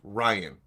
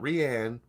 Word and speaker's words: Rian: R-I-A-N. Okay. And it's pronounced Ryan. Yeah. Not Rianne.